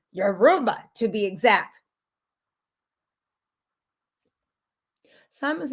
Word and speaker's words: Yoruba: you know he's not yoruba so anyway i know i'm mispronouncing that too i don't mean disrespect somebody give me the phonetic spelling yoruba he's not euroba he's been in right